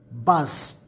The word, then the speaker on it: bass: b a s s bus first meaning the fish rhymes with class and b-a-s-s bus second